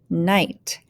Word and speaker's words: knight: out first line is silent k words so we don't hear the k remember it's silent so it's just new night this word night is